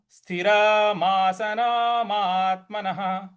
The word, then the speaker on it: स्थिरमासनमात्मनः: इसके बाद अगला पद है स्थिरमासनमात्मनः, स्थिरमासनमात्मनः। मात, यहां पे भी हमको हल्का सा बल लगाना है। महात्मनः, और विसर्ग जो है उसको ह का उच्चारण ले आएंगे। तो किस प्रकार से बोलेंगे? स्थिरमासनमात्मनः।